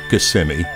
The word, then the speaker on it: Kissimmee: Tennessee also Valentine's Virginia honey will you talk Kissimmee Florida no I know it's actually pronounced Kissimmee course Americans spend billions on flowers for their